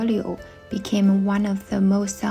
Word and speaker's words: 柳: The Chinese word for willow is pronounced 柳. It sounds very similar to another Chinese word, 留, which means to stay.